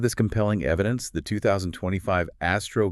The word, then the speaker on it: ASTRO: Because of this compelling evidence, the 2025 ASTRO guideline, Astro, pronounced like the word Astro, makes a strong recommendation.